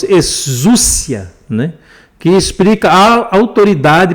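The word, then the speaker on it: ἐξουσία: A pronúncia é mais ou menos exúcia, né?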